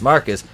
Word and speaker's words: Marquise: if jada had treated marquise pronounced marcus because he's [ __